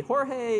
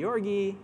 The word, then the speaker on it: Jorge: you say that name, it could be a variety of different ways you pronounce it.